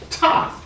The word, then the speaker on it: Ta: But we know that that's incorrect, because the symbol for land in Medu Neter looks like this, and it's pronounced Ta.